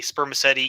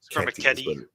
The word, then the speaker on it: spermaceti: And sorry, my pronunciation is eternally classical Latin, so it's going to be it's a spermaceti. Yeah, that's what it is in classical. That's weird. You can spermaceti works.